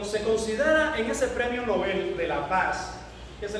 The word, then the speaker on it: Nobel: Qué interesante que cuando usted estudia los premios Nobel, aclaro, se dice Nobel, no se dice premios Nobel, es premios Nobel, en apellido a un señor que es así, Nobel.